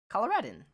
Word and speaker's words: Coloradin: Pronounce it like Colorado, but with din as in dinner and the end instead of do. Coloradin.